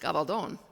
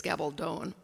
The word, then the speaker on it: Gabaldon: we're English speakers is Gabaldon it still has a long o in the last the British conferenciation is